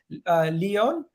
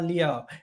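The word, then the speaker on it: Leão: to Rafael Leon. Is that how you say his name? Rafael, bro. Rafael Leao, and he is playing predominantly as a left winger this season.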